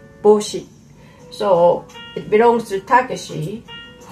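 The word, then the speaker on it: 帽子: heart in japanese saying we write bo ushi but actually a pronunciation is boshi so it belongs to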